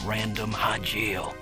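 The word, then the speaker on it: Random Hajile: Watch out for a bounty hunter named Random Hajil. So that's how you pronounce it.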